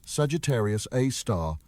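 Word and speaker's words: Sagittarius A*: They named it Sagittarius A star, pronounced Sagittarius A star after the constellation where it resides.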